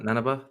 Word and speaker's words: Nanaba: Nanaba. Is that how you pronounce that? Nanaba?